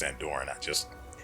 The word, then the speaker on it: Andoran: I know it's pronounced Andoran, Anyway.